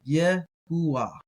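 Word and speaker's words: יהוה: It would be something like Yahuwah. Yahuwah, if you wanted to strictly try to pronounce it.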